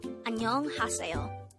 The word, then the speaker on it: 안녕하세요: This is read as Annyeong Haseyo.